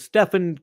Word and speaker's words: Stephen: I don't know why all of a sudden people, because Stefan, you could pronounce it that way, but it's Stephen.